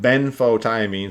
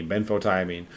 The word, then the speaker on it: benfotiamine: ben photo i mean so ben like the first name and then so b e n f o frank like f frank s and f jesus let me start that over b e n f as in frank o t i a m i n e ben photo i mean um that will help